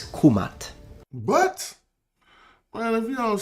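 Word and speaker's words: Kemet: to be precise then the correct and most likely pronunciation in ancient Egyptian specifically in classical Egyptian is kumat but man if you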